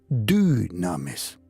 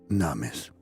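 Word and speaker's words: δύναμις: Recibimos dunamis. En griego, dunamis. Así se pronuncia, se escribe con Y, du. Porque el griego no tiene la U, se pronuncia la U, pero es una Y, dunamis.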